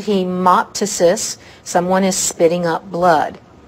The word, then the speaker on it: hemoptysis: Tice's dices again PT when PT is at the beginning the P is silent so Tice's so Mike Tyson should have spit instead of bit so hemoptysis hemoptysis someone is spitting up